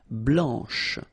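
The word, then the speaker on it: blanche: final C and then blanch okay remember when you combine this C you get the sound sh blanch okay so BL blanch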